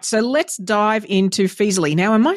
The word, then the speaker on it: Feezily: exactly fantastic all right so let's dive into feasley now am I saying that right is there a better way to say that that's right perfect so some people mispronounce and call it freezly it's like oh that sounds like a bad